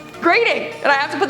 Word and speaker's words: Groening: This sounds so weird, but it's Groening, and I have to